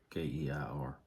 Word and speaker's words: Keir: Prime Minister Sir Keir Starmer, I guess is how you say his first name, Keir, has defended the government's plan to introduce digital IDs across the UK.